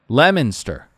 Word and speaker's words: Leominster: Patrick is in, I'm going to try it, Leominster. The O is silent.